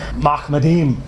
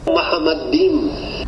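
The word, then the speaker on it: מחמדים: Dr. White pronounces it in such a way that it sounds like, yo, this can't be Muhammad. Mahmadim. Muhammadim. Mahmadim. Muhammadim. Mahmadim. Muhammadim. Must not read Hebrew.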